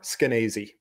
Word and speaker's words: Skenazy: Lenore Skenazy. Okay. And as she says, rhymes with crazy.